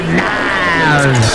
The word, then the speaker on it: Niles: Fraser Crane and his brother Niles Crane, which rhymes with Giles.